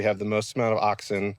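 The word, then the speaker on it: auxin: bud where we have the most amount of oxin. It's a u x i n is how you spell it.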